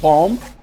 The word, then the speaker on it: bomb: in some words like bomb the first b in bomb is pronounced but the second b is not pronounced as mute um like you're having